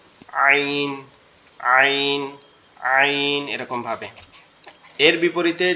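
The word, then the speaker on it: ع: থেকে উচ্চারিত হয়, কিন্তু এটার আওয়াজটা কি হয় একটু শক্ত হয়, মানে একটু চাপা। আইন, আইন, আইন এরকম ভাবে।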